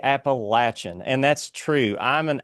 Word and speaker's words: Appalachian: to tell everyone that it's not Appalachian, but it's Appalachian. So take it from an Appalachian boy that if you ever hear it on the news, they're probably saying it wrong. It's actually Appalachian, and that's true.